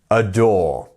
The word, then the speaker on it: adore: up we have aore adore remember as I said it's almost like you're saying a door ad door ad door you got